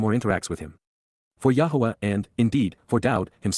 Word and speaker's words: Yahweh: blessings are reciprocated by the association with death Yahweh Yahweh the proper pronunciation of the name of eloah God as